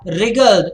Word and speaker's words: wriggled: Smita wriggled. This W is silent. Smita wriggled her way through the crowds towards the stage.